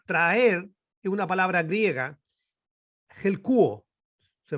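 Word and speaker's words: ἑλκύω: Ahora, traer es una palabra griega, helkuo, se pronuncia.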